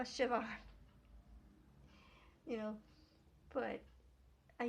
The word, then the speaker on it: Siobhan: BH something I'm like that's a v sound like Siobhan you know and which uh um somebody I know was pronouncing is like Siobhan no a Shivan you know but I